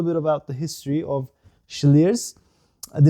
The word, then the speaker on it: Slyrs: I've never done a German whiskey review, and before this I've not tried a German whiskey, but Slyrs, pronounced or written S-L-L-Y-R-S, I'll show you the bottle, is expanding.